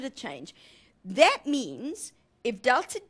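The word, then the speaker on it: Δ: great sense number one that triangle is pronounced Delta and it means change in okay so that's what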